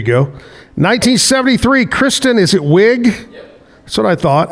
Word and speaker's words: Wiig: 1973, Kristen, is it Wiig?